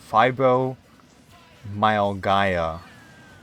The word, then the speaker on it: fibromyalgia: Fibromyaga. Wait, there's an L in there. God damn it. Fibromyalgia.